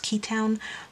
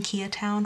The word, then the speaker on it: Keatown: pretty sure it's pronounced key town because the shop owner's name i'm pretty sure is keaton so i've been saying kia town for forever but hopefully